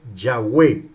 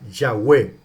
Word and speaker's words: Yahweh: Entonces los masoretas cuando construyen el canon del Antiguo Testamento, lo transcriben, le agregan vocales al tetragramatón YHWH para que se pronuncie Yahweh, ¿verdad? Yahweh.